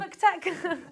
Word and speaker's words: McTech: So next up, we have Team Nebula and we have Team, I might have mispronounced this, McTech? Like McDonald's? Like McDonald's or McLovin. McTech.